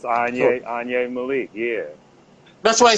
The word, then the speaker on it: Anyi: Onye Spell Malik. it like that. I should Put spell it on in a sword fire.